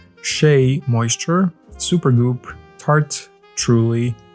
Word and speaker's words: Shea: good molecules mundai NYX OPI whey Redken Shia see I'm pronouncing it wrong again sheay moisture super goop tarte